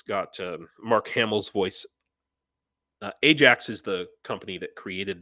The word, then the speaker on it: Ajax: teach English for uh called Ajax or they pronounce it aak um yeah this these